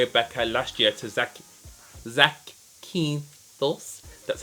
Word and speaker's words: Zakynthos: I actually went away with BECCA last year to Zakynthos.